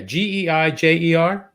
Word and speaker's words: Geijer: It's spelled Geijer. No, wait. I'm sorry. Is it? Yeah, Geijer.